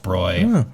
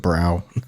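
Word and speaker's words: Bräu: little oop salon on top for those yeah broy okay i think i always said brow that's what i use yeah that's what i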